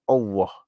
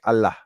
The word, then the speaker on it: Allah: But of course, in Malaysia, we try to pronounce the word closely to the Arabic. So it's Allah, right?